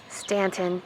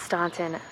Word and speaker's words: Staunton: Staunton, not Staunton.